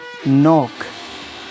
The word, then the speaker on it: knock: इस तरीके से नोक, KNOCK।